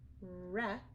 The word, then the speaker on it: wreck: Those are all examples of ghost letter WR. You only hear the sound. So again, it's tricky because you need to remember that there's a silent W at the beginning.